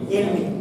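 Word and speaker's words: عِلْمِ: Kalau ada huruf J berarti apa? Bacanya kasroh. Bacanya apa itu? Ilmi. Kenapa Pak ilmi? Karena ada fi, iya kan?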